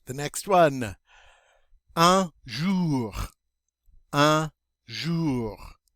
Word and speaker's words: un jour: Un jour. Un jour. That OU is always pronounced like OO. We pronounce the R. Remember that R sound? Un jour.